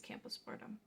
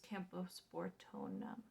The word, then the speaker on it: Camposportoanum: And then it is a philodendron, and the species Camposportum. It's Camposportoanum.